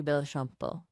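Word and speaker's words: Béchamp: Ah, Anton Bashamp, it's pronounced roughly B Shampo.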